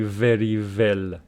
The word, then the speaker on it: very well: So the pronunciation for this one is very well. Very well. Very well. The first one is v. The second one is w.